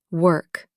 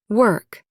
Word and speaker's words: work: Work. Say them with me slowly. Word. Word. World. World. Work. Work. All three start with that soft were sound. Not war. Not war. Just were in a sentence.